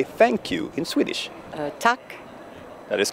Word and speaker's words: tack: how do you say thank you in Swedish tuck that is correct Oh two down okay how